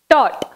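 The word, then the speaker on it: taught: Next, tot. நம்ம அதை எப்படி ப்ரொனவுன்ஸ் பண்ணணும், tot.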